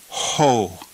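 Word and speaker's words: ὁ: And what kind of breathing mark is over top of the omicron? A rough breathing mark. So we will pronounce this word ho.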